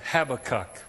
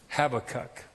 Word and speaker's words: Habakkuk: You know, I'm gonna call him Habakkuk, all right? Habakkuk. Anybody know where Habakkuk is?